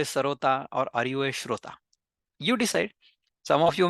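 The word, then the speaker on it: श्रोता: You are a Shrota.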